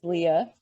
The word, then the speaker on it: Leah: pronunciation of your name it is Leah so you just think of the biblical Rachel and Leah and um it is the traditional spelling so I have been in Massachusetts since late 2015.